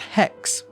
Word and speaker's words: hex: that followed ancient greek the number six is pronounced hex this is where modern